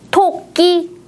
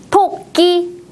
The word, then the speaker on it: 토끼: 이름은 무엇일까요 토끼입니다 토끼 토끼 토끼 몇 번이 토끼예요네 1번 토끼입니다 첫 번째 음절은 바람을 많이 내보내고 두 번째 음절은 힘을 많이 주어서 발음했다 문제도 볼까요이 동물의 이름은